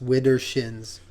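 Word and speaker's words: widdershins: d d e r s sh i ns Withers shins Withers Shin okay you win I did not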